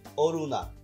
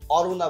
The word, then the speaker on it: অরুণা: অরুণা, আমরা কেউ অরুণা বলি না, আমরা কি বলি? অরুণা।